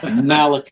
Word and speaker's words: Malachi: yeah Patrick did l14 what is the proper pronunciation it's Malachi read your Bible man Malachi I thought that was